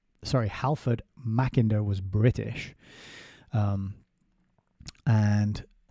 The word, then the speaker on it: Halford: Uh again, don't know either of these guys, but Halfred, sorry, Halford Machiner was British.